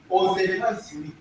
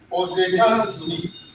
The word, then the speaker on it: Ozehazuni: Now there is liaison between this sound and A sound. This is pronounced A. And now you can say sound with the full sound. Zuni. There's a Z here.